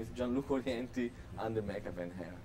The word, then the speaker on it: Gianluca: J- So G no, like it's spelled George. G as George, Gianluca, and my last name is spelled Orienti.